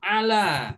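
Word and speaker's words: على: harus selanjutnya ada huruf Ala ya huruf Ain berharakat fathah huruf lam berharakat fathah kemudian huruf ya tidak bertitik atau Alif Ya Sukun ala dibaca ala ini huruf ja saya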